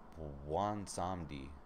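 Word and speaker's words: Bwonsamdi: To Bwansamdi. Alright, that's the correct pronunciation of that.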